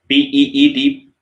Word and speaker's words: pizza: It's PEETSAA. Pizza. Pizza. Pizza. Not pizza. Pizza. Pizza. Pizza. It's quite common mistake we make in the pronunciation exactly, right?